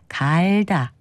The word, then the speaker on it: 갈다: 갈다 같이 사용합니다 그런데 주의할 것은 문지른다 뜻과 바꾼다는 뜻을 가진 경우는 몸을 짧게 발음하는 반면에 농사와 관련된 뜻을 가진 경우에는 갈다 이렇게 몸을 길게 발음합니다 참고로 우리말에 용가리라고 이것은